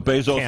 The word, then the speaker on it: Bezos: So Bezos with a long A.